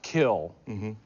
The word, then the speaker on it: Kiln: You grew up in a town spelled K-I-L-N, but it's pronounced Kill.